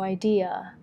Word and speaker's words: idea: no สระโออุอือนะมันจะยากนิดนึงโอแต่ว่าพูดเร็วๆก็ไม่ซีเรียสนะคะ no ideas we put the stress on the second syllable เราวางเสียงหนักไว้ที่พยางค์ที่สองก็คือ dear นะคะให้ออกเสียงเชื่อมต่อกันยันคางอย่ามาเป็นแบบว่า I D E อย่างนี้ไม่ได้นะคะต้องเชื่อมยันคางต่อกันเหมือนเราไม่ยกปากกานะคะจำไว้ ideaI have no idea.